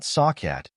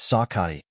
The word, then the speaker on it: Sakai: that's an odd name no not sakat it's Sakai don't address him incorrectly